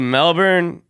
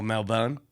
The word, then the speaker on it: Melbourne: see you got you got to start pronouncing Melbourne right oh Melbourne Melbourne it's b i n melbour Melbourne Melbourne real quick all right or actually is M lb apostrophe n like Melbourne yeah but yeah you